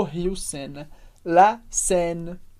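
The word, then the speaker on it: Seine: final de palavras e la senen a gente fala sen esse som bem aberto porque e i como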